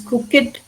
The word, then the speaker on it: crooked: You have to drive slowly on these crooked country roads. See I'm not saying crooked. I'm saying crooked. It I ending though it is spelled E D in the end is pronounced it crooked here also dogged.